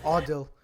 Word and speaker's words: Adil: Adil. Well, that's how we pronounce it in Uzbek.